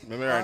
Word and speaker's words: Mamaroneck: That team from New York, I still can't pronounce. Mamaroneck, I got you. Mamaroneck.